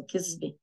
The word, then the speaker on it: كذبة: The is pronounced as a z in Lebanese, so كذبة, a lie, كذبة أول نيسان.